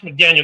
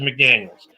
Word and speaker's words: McDaniels: No, it's not Josh McDaniel. Got to say his name right. Josh, I kill franchises McDaniels.